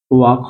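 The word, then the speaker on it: walk: डब्ल्यू आ जाता है डब्ल्यू को वैसे तो प्रोनाउंसिएशन करते हैं व से, जैसे कि वॉक हो जाएगा। यहाँ पे जो एल रहता है वो साइलेंट होता है, जेड।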